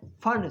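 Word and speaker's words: Pfund: इसको हम बोलते हैं फंड सीरीज। पी साइलेंट है, फंड सीरीज।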